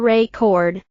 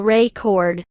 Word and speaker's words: record: For example, the word record can be a noun or a verb, depending on where the stress is placed. If you stress the first syllable record, it's a noun. I bought a record yesterday. If you stress the second syllable record, it's a verb. I need to record this video.